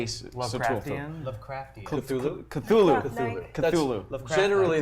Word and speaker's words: Cthulhu: Cthulhu. Generally, Cthulhu.